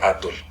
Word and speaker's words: Atl: México, de la capital, casi no pronuncian la O ni la L, así como que el doctor Atl, y la L así como que muy cortita y muy forzada, ¿no?